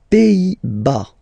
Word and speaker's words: Pays-Bas: Les Pays-Bas. Final S here, not pronounced. Same thing here. Pays, and then bas.